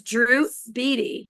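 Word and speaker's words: Drew Beattie: His name is Drew Beatty. Yeah. But it's spelled Beattie.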